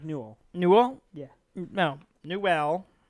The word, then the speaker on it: Newell: Gabe Newell. Yeah. Of Valve. I believe it's pronounced Newell. Newell? Yeah. No, Newell. Not Noel.